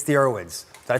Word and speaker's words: Irwins: It's the Irwins. Did I pronounce it right?